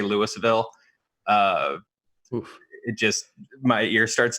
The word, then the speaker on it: Louisville: It's Louisville. You have to like pretend like you just Novocaine'd up most of your mouth and then go Louisville. And that's how you pronounce the name of my city.